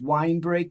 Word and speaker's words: Winebrake: so the name of the law firm is wine break and santillo and my name is spelled w-i-n-e-b-r-a-k-e and our and our website is